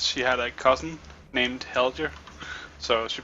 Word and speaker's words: Helge: though I'm Danish, and it's pronounced Helge. I'm not even gonna try. No, don't. Yeah, no. Most people pronounce it Helger. Yep, that's what I actually thought, but Yeah, and that's the Norwegian pronunciation of it. But the Danish, no. so it wouldn't be wrong to do it like that. And even some Danish Yeah. people called Helge pronounce it like that.